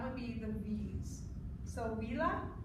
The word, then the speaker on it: villa: So villa is pronounced with the W sound.